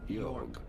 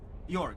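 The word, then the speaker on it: Jörg: do you say it this is a German name said in German as yog yor very straight forward yor okay that that works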